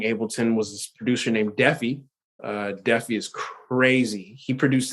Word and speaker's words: Defi: it's DEFI, right? 2 Fs, yeah. Okay. I thought it was DeFi, so thanks for clearing that up. I've been saying it wrong this whole time.